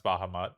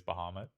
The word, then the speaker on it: Bahamut: Favorite summon, Bahamut, which I usually pronounce Bahamut, but I think it is Bahamut.